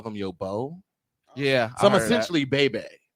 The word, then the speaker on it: beau: would call them your beau. Yeah. So I'm essentially bae. Yeah. So my mama called me Bobo. Yeah. It's not spelled like Bobo. It's spelled like B-E-A-U.